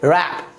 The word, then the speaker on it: wrap: अगला example WRAP, क्या पढ़ेंगे इसे रैप ना कि wrap, क्या पढ़ेंगे रैप।